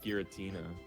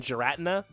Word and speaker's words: Giratina: yeah just a different just a hard G versus a soft G I think the hard the hard G sounds worse I like Giratina you like Giratina more than jarana for like a weird